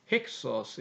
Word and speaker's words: 힉소스: 근데 이제 그 본토 발음 가면 힉이 돼서 H 발음이 살아납니다. 힉소스 이래 나온다는 거죠.